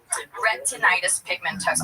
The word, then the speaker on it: retinitis pigmentosa: Retinitis pigmentosa.